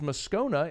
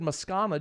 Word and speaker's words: Moscona: i think you know my last name is moscona it's like if you just said mascana just because you think that sounds better well the voice guy